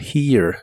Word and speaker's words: here: La H suena como una J suave y la primera E suena como una I larga que termina con E suave. Y la E del final no se pronuncia.